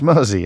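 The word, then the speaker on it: Mersea: It's Mersey, as in the River Mersey.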